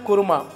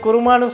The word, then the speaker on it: குருமா: Chicken குருமா. இதை குருமான்னு சொல்லுவாங்க, கோருமான்னு சொல்லுவாங்க. குருமான்னு சொல்கிறது தான் சரியான உச்சரிப்பு.